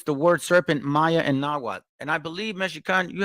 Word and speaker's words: Nahuatl: It says the name of their culture, hero Kukulkan or Quetzalcoatl, incorporates the word serpent, Maya, and Nahuatl.